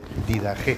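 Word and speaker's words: Didaché: La Didé, que es Didag. Bueno, se escribe didach, pero se dice did, que es, no se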